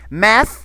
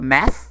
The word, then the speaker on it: math: esse problema matemtico exatamente math vem de mathematics né que é matemática a pronúncia também sempre o do th é aqui na língua math e não Mat Ok a mesma coisa